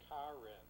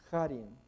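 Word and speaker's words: χάριν: pistes, sarxi, cariton, Jariton, pisteos, karin. jarin. Noten que él lo pronuncia como K porque en inglés se escribe CH y la CH es J.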